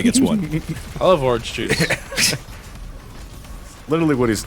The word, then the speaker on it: Juste: I'm sorry, it's Juste, but it's That's pronounced like Juice.